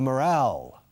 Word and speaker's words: morale: Escrito morale. Y la pronunciación, esa E al final, muda. Cambia la pronunciación de la palabra.